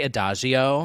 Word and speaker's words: Adagio: say this first word i say adagio that's correct oh slam adagio for